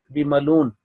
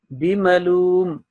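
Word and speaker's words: بمعلوم: Fama and bimaloom on this side, this tanween meem was not properly pronounced. You said bimaloon or meem was not anyway properly recited, articulated. So it will be bimaloom and wazakir.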